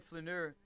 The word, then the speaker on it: flaneur: Let's get the right pronunciation of this word, huh? Ooh. There we go. Flaneur. You see here. Flaneur. Flaneur. Flaneur. Flaneur. Flaneur. Being a flaneur, as the French call it, is good for your well-being.